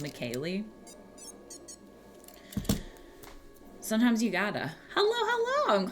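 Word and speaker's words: McKly: We've got McKaylee, spelled M-C-K-L-Y, obviously pronounced McKaylee.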